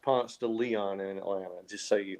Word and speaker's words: Ponce de Leon: ponce de leon uh is it's not it's pronounced ponce de leon in atlanta just so you know not ponce de leon oh yeah in atlanta you you turn right on ponce de leon down to the varsity yep okay so arts